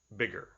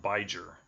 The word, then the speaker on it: bigger: by a vowel okay it's gonna change the pronunciation of the I if we just slap on an ER so we need another consonants to give it that same pronunciation big bigger not not by jur so everything here is